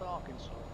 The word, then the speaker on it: Arkansas: That's how it's spelled, Arkansas, but it's pronounced Arkansas.